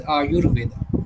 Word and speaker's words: Ayurveda: Aayu and Veda and when we combine together we uh pronounce it as Aayurveda.